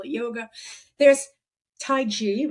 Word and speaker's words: taiji: positions and if they call it yoga there's taiji right did I pronounce it correctly yes that's right Qigong and